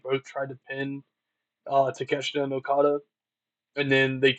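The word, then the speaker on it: Takeshita: How do you say his name? Teesha. Teesha. I in my head I read it as Teacha. I did not know how to say. That's how that's how I read it when I first saw his name. Um but then I heard them pronounce that as Teesha. So I I couldn't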